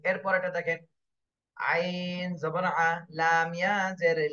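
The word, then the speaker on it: عليمًا: ফারিহা ফারিহা ফারিহা জি এরপরেরটা দেখেন আইন জবর আ লাম ইয়া জের লি আলি মিম আলিফ দুই জবর মান আলিমান আলিমান তাহলে এখানে যদি আমি উচ্চারণ করতে যাই বা রিডিং পড়তে যাই রিডিং এর সময় আলিমান আর পড়া যাবে না আলিমা এক আলিফ টান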